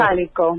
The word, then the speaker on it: Sálico: Salico. Salico, con acento en la A.